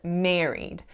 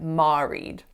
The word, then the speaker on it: married: was on the word married so this is a complex or vowel that sounds like air however instead of saying that I said ma read ma read should have been married the next mistake that